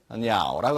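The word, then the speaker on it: 鳥: 음은 조, 중국 발음은 병음은 냐오라고 합니다.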